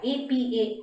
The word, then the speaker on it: apartheid: Apartheid system, apartheid, A-P-A-R-T-H-E-I-D, which is pronounced as apartheid.